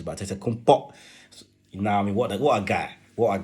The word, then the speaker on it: Antetokounmpo: Or Kumbo, if you want to pronounce it the Nigerian way. Or Antetokounmpo. So many pronunciations, but Antetokounmpo.